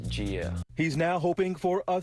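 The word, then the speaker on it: Jeah: It's spelled J-E-A-H. If you say it like how it's spelled, it's Gia.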